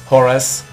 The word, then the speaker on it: Horace: Yo soy Horace. Horacio. Horace. como se pronuncia en inglés, no importa.